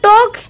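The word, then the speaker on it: talk: अब नेक्स्ट देखिए, look at the word टॉक here, L is silent, now से the silent letter in the following words allowed. टॉक word को देखो, इस टॉक word को बहुत ध्यान से देखो, इसके अंदर एल क्या है, वो साइलेंट है।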